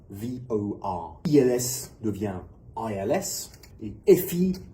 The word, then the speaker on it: VOR: Un VOR en français devient VOR. Il faut bien noter qu'on prononce chaque lettre individuellement. VOR.